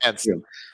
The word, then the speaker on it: Cairns: I'm not sure if I'm pronouncing Cairns right, but that's it was a pretty solid. Cans, like be a can, and then you add a plural, cans. Melbourne and Cairns. Yeah, Cairns.